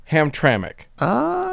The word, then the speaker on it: Hamtramck: of ham TR is pronounced as if there is a vowel in the last syllable as in Hamtramck with emphasis on the middle syllable okay uh the city